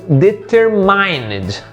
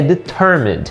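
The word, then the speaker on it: determine: essa palavra ruim e provavelmente alguns de vocês podem ter lido deter Line mais a pronúncia correta dela é de Turma do turma é perto do bem né é uma palavra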